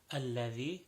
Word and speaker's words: الذي: The second word, الذي, أرأيت الذي, most common mistake in this is the dhal. Dhal is not pronounced properly, so tip of the tongue and tip of the upper two front teeth.